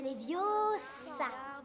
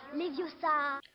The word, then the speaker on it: Leviosa: C'est Leviosa. Et pas Leviosa.